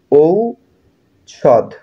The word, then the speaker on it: ঔষধ: ঔষধ শব্দের সঠিক উচ্চারণ কোনটি? ঔষদ। এখানে বানানটা দেখো।